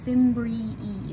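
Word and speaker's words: fimbriae: drape over the ovary these are called the fimbri e that's a weird pronunciation but that is how it how you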